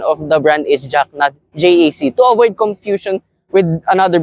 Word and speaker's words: JAC: thank you to everyone who said the proper pronunciation of the brand is jackn jaac to avoid confusion with another brand that almost